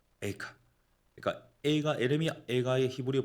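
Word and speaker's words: איכה: 한글로는 성경이 에가지 않습니까 히브리어 단어로는 거의 발음이 같습니다 카입니다 에카 에카 그러니까 에가 에르미아 가의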